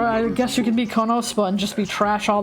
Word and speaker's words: KonoSuba: What, Konosuba? Oh no, Suba! You don't say the U in Japanese, do you? Yes! You say every vowel.